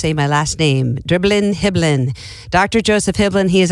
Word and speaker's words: Hiblin: Hiblin, I didn't know how to pronounce that because phonedically it would be Hibell. It just didn't roll off the tongue very naturally. And he said just pretend like you're dribbling a basketball. It's dribbling Hiblin.